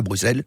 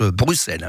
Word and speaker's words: Bruxelles: Voilà chez nos proches cousins qui sont Ningermain mais belges à à Bruxelles qu' prononce Bruxelles, je le rappelle pas Bruxelles tout dit les bazar autrement